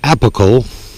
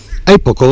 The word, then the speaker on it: apical: and this is a word I have trouble pronouncing it's appical apical excuse me say I did it apical dominance